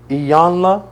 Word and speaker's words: Iyanla: Iyanla.